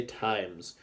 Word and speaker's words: times: So we need that silent E in there to make it say times.